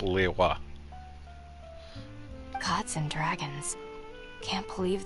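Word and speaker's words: Liyue: from the ocean Le well it does have that subtle third syllable but yeah it's pronounced Lea gods and Dragons can't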